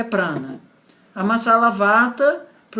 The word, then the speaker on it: prana: É o prana, que a pronúncia mais correta seria prana, mas tudo bem. Vou falar prana só porque é o que as pessoas estão mais acostumadas a escutar.